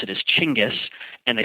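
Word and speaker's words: Chinggis: Americans would pronounce it is actually a French Corruption of the original pronunciation of the word and the way that Mongolians pronounce it is chingis and they spell it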